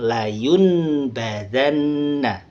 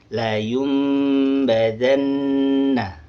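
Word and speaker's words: لَيُنۢبَذَنَّ: Nah, di sini dibacanya bukan layunbadanna tapi layumbadanna. Layum eqlab berubah menjadi huruf mim.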